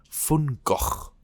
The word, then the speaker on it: Van Gogh: And actually, the authentic pronunciation of Vincent van Gogh's name in Dutch is something like Van Gogh.